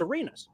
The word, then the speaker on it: Arenas: one radio guy that the pronunciation isn't Uranus but it's Arenas it's like cool all